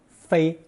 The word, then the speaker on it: 飞: Pronounced first tone 飞, it naturally means to fly.